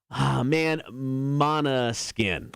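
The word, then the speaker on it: Måneskin: It's Mana Skin. It's spelled like main skin.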